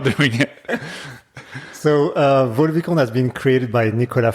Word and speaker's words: Vaux-le-Vicomte: So firstly, let's start with pronunciation. Yeah, Vaux-Le-Vicomte. Vaux-Le-Vicomte.